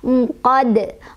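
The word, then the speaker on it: عُقَد: Jadi dal awalnya berharokat kasrah, karena berhenti jadi sukun, maka dia jadi qolqolah kubro atau qolqolah besar. Cara bacanya adalah dipantulkan dan pantulannya kubro besar ya. Unqad, unqad.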